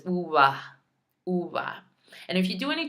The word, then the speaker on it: uva: traveling, you go to places like Puerto Rico, they slur it even more. So it's like, uva. No, that was horrible. Ua. They almost say it like that. Like it slurs so quickly that you don't even hear it.